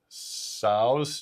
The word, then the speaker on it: Tso: Uh over the Express General Tso's chicken. Yep. T silent, right? T is silent in America.